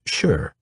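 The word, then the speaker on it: 勢: all ambiguous and imprecise sure pronounced like the affirmative sure has no formulaic translation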